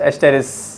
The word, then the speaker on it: Asterias: I think so इट इज ASTERIAS, बट इट is pronounce as एस्टेरिस।